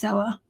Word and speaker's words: Zella: Yeah, it's Zella. I thought maybe it was pronouncing it wrong, but it's Zella.